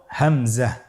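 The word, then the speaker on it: همزة: পরবর্তী হরফটির নাম হলো হামজা পরবর্তী হরফটির নাম হামজা হামজা হরফটি উচ্চারণের ক্ষেত্রেও বারিক করে উচ্চারণ করতে হবে এবং এখানে টেনে পড়া যাবে না দ্রুত পড়তে হবে আপনারা আমার সাথে বলুন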